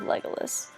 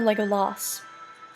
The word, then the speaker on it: Legolas: This class is inspired by Gimli, son of Gloin, whose skill in arms match the bow skills of Legolas. Or Legolas, depending on how you want to pronounce it.